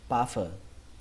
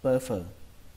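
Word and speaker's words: puffer: Cách đọc thứ hai của từ này, chúng ta có thể đọc âm u này thành âm ơ, có thể đọc là pơ phờ, pơ phờ. Cách này thì đúng được khoảng 85%, pơ phờ.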